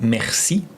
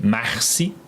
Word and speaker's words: merci: So it really sound like, I will spell it like the beginning of your name, Marcy Popsis. Merci Popsis. So I feel like every time I say your name, I feel like I'm saying thank you.